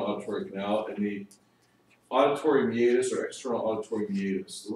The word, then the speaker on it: meatus: It looks like meatus, M-E-A-T-U-S. If you saw it, you just pronounce it meatus. M-E-A-T-U-S, like meet us. Oh. But it's pronounced meatus. Meet us at the door.